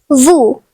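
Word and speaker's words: vous: The next French word is vu meaning you. The silent letter is s.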